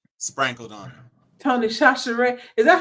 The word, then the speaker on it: Tony Chachere: Well, it begins with a CH, but we just said Satchery because why not?